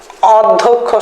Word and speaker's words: অধ্যক্ষ: অধ্যক্ষের স্বরের উচ্চারণ করি না, ও এর উচ্চারণ করি, ও এর উচ্চারণ করি, ও দিলাম, অধ ধোক ধোক খো, দেখেন যেভাবে উচ্চারণ করছি জাস্ট সেভাবে উচ্চারণটা লিখে দিছি, শেষ।